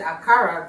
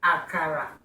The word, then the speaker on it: akara: how to make aara I know I said aara the last Edition that's the way Americans say it but we say aara this one a real